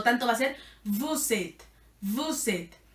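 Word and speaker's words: vous êtes: una aleación por eso la s suena porque la s se conecta con la e principal del principio y es bucete es una sola palabra buzzette siguiente hilson y Elson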